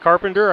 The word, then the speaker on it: Carpenter: I'm going to call it Carpenter. I would say Charpentier, if you were going with the French pronunciation of that word, but Conrad Carpenter. Next will be Daxton Baptist, a sophomore and 5'10".